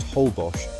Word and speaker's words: Holbox: Isa Holbox, pronounced Holbos, is a car-free island where sandy streets replace roads and golf carts are your main way of getting around.